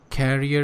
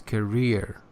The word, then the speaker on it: career: on the other hand you said carrier it's career he said 70 17